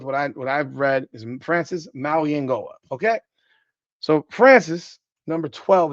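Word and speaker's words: Mauigoa: It's really aggravating to me that unless Francis tells me his name is Maui Noah, I'm gonna go by what everything says because he's never said his name is Maui Noah.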